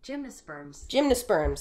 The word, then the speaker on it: gymnosperms: Let me make sure I pronounce that right, because I always get plant shit wrong. Gymnosperms.